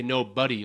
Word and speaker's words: nobody: It's spelled no body, but we all say no buddy, like, hey buddy, what's up buddy old pal?